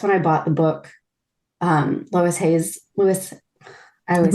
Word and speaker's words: Louise Hay: Louise Hayes, I always say Lois. Louise Hayes. Louise Hay, because my grandmother's name was Lois. And it was spelled the same way. So that's why I always say it.